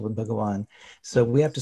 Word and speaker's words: Bhagawan: You might be accustomed to spelling it with a V, but when people see the V, they know that V is pronounced differently, right, than a W.